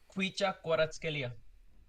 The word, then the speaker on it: Kvaratskhelia: Kvaratskhelia. Fantastic pronunciation.